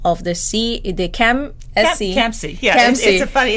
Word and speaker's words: CAMSC: Yeah, CAMSC. It's a funny pronunciation, but it's CAMSC.